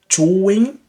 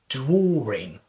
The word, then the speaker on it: drawing: So now a lot of people they might think that is drawing, drawing. Well, so now I think this is an intrusive R feature. In terms of pronunciation, I would highly suggest you have to insert the letter R in these words. You have to say, you have to pronounce it drawing, drawing, drawing.